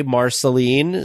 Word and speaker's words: Marceline: was the first person that we heard say Marceline so that is how it is pronounced down there this gentleman was wonderful he